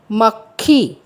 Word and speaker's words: मक्खी: तो शब्द बना मक्खी। क का उच्चारण गले में ही अटक जाएगा, वह पूरा क उच्चारण नहीं करना है। मक्खी, क और ख का उच्चारण साथ में करना है।